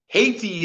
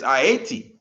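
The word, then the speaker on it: Ayiti: the original name ATI Haiti is how we pronounce it in the English but it's IAT a y i t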